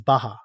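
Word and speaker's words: Barra: know spelled bar but I think the Portuguese pronunciation is Baja just kind of like Baja Mexico or something like that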